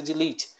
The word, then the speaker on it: delete: lítio né uma coluna pronunciando corretamente seria de leite que é do oi